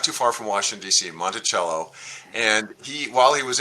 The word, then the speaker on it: Monticello: um he lived in is it monticello is that how you pronounce it yes and did